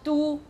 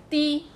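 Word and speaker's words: 箸: So do is the northern pronunciation. That's the Quanzhou pronunciation. Di is the Zhangzhou, the southern part.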